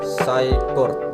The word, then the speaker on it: Scicort: Jadi penyebutan yang benar itu adalah Saikort, bukan Saikort.